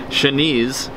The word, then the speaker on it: Shanice: Shanice, which she wrote, rhymes with sneeze, so that I know how to pronounce it, because she knows I'm bad at pronouncing names.